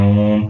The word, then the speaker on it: ओम: word होता है ओम तो ओम का जब उच्चारण करते हैं तो खींच कर करते हैं ओम तो ये सभी क्या